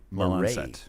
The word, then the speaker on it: Lalancette: How do you pronounce the name of your other co-author? Is it Mireille? Mireille Lalancette.